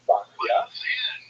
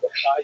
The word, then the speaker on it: Bachya: The customary pronunciation is Bachya, but it's not a regular Hebrew spelling at all. Bachya, which is something like big, that big K, but it's a Bachya. Some people also say Bechaye, which is also not exactly right.